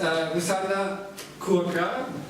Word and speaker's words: Rusanda Curca: We start with Rusanda Curca, that's how it's pronounced, how it works.